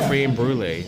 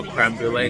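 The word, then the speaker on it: crème brûlée: They even have a passion fruit cream brulee or how you pronounce that. Passion fruit is one of our Oh, creme brulee. That's how you say it.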